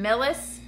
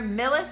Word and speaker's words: Millis: if you're in near Millis I think I'm saying it right mi ll is Millis mass I will be